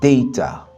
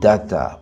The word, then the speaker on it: data: a deux prononciations différentes ce mot se prononce Datta pour les Britanniques et data pour les Américains donc deta c'est l'accent